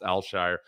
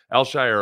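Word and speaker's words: Al-Shaair: is pronounced that way it's not pronounced anything like it's spelled it's alshire alshire or alshire uh and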